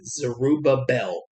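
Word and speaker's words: Zerubbabel: man named zerel zerubabel I'm not sure if I'm pronouncing that correctly zerubabel I believe is the correct pronunciation anyway uh the K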